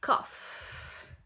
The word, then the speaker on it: cough: Tout c'est cof. Tout c'est cof. C'est vrai que ça se ça s'écrit bizarrement.